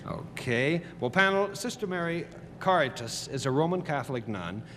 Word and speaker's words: Caritas: Caritas. It's very difficult. I want to give it a Spanish pronunciation. But don't. But It's don't. Latin. It is Latin.